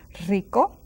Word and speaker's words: rico: Now the R's also beginning of this word are a little bit stronger than the R that you find in between letters. So rico, rica. Some people say even pronounce it rather strong.